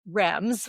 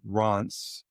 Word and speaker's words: Reims: And then, so we went to both, I'm going to say this wrong, but I want you to correct me, Reims, which is how I pronounce it.